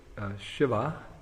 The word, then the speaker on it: Shiva: this auspicious person Shiva actually the very word Shiva as it's pronounced Shiva uh it means auspicious Lord Shiva